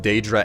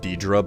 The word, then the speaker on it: Daedra: that I think I've heard it said both Daedra and Diedre by characters in the games so that it's like there's no one correct way to pronounce it at least like if